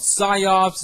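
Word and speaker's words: Psi-Ops: you can download it so it's called scops it's spelled PSI Ops and the mind Gates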